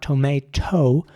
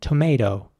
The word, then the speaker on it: tomato: at the end, so it's not tomato, it's more tomato. Very soft T at the end, tomato.